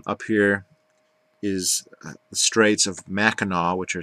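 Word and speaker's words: Mackinac: know that it's pronounced maau as if it was spelled with a W at the end people are not from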